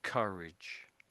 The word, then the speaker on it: courage: So it's this vowel sound in here, isn't it? Really, just before the R. Although they're completely different spelling, they make almost the same sound, don't they? And it's just this vowel sound after the C that makes all the difference.